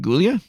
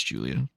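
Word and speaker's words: Giulia: I know it's Julia, but it's spelled with a G, so I call her Julia.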